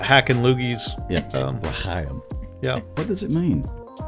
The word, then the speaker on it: L'chaim: But it's l'chaim. Yeah. I think to speak good Jewish, you have to do that. There is a lot of Yeah. hack and loogies. Yeah. Um, L'chaim.